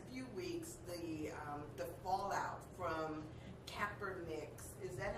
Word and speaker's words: Kaepernick: But what's interesting is that we've seen over the last few weeks the fallout from Kaepernick's.